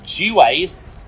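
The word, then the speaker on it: Juwes: city of london police others believe that j-u-w-e-s was actually pronounced g-waze i was linked to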